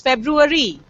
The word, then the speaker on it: February: I want the class let's say these words February February February February February February it's February it's February and we most of us mispronounce it okay okay this one how